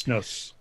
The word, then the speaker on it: snus: It's pronounced snus, is it not? Snus or snus, it depends on where you're from.